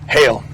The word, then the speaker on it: Hale: out here jake um how do you pronounce this officially hail so this is hale's